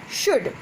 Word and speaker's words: should: We will not pronounce this word just like could, would, should, okay. We will pronounce could, would, should, okay, because L is silent here.